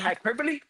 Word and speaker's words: hyperbole: Is that hyperbole?